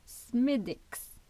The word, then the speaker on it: Smithwick's: Je bois un Smithwick's, qu'on prononce Smithwick's.